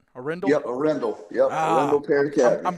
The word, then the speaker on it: Arendell: It's Arendell, right? Arendell? Yep, Arendell.